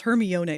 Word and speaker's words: Hermione: It's Hermione now.